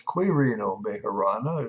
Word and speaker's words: Quirino Majorana: There is a gentleman from, he was an Italian, Quirino Majorana, if you want, or it's Quirino Majorana, if you want to pronounce it correctly.